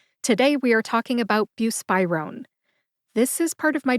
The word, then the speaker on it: buspirone: Buspirone has 3 syllables. Bu, like beautiful, spy, like James Bond is a fictional spy, and rone, which rhymes with phone. Put that all together and you get buspirone.